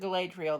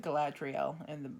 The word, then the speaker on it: Galadriel: We pronounce it Galadriel. They pronounce it Galadriel in the movies.